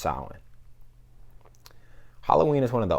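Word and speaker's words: Samhain: pagan festival called Salin I know that that word is not pronounced how it looks trust me I had the same reaction but yes it's pronounced silent Halloween is one of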